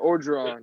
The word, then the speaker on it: Orgeron: Orgeron, yep.